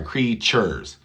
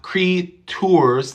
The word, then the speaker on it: creatures: situation when you have t u in the middle of a word it's going to sound like c h u so chew our creature or sorry creatures so CH not t u not Cree tours thank you very much